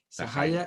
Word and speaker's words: Sahaja: sería en castellano pero como viene el término en sánscrito se pronuncia esa calle sahaja quiere decir espontáneo y